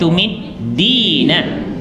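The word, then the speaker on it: تُمِدِّينَ: Dia jangan keliru sebab baris dia di bawah tasydid. Bacanya tumiddina. Semula anti tumiddina.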